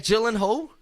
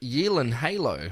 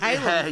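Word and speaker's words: Gyllenhaal: Jake gyllen Hall uh it's not gyllen Hall it's Jake Yen Halo no way this is stupid this isn't right listen why do he come out of the Woodworks after 20 years sorry it's y Hal you've been doing it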